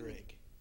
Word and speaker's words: Uhrig: Uhrig. Spell that. Uhrig. I can say that. Uhrig.